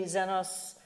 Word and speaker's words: Xenos: about Prometheus, that was XENOS was the first one that connected with it. And we actually say 'Xenos' [different pronunciation, Greek] XENOS, yeah. A bit sharper.